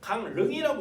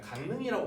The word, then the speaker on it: 강릉: 그러면 강릉 보시면은 강릉이라고 우리 발음하지 않아요. 강릉이라고 발음합니다.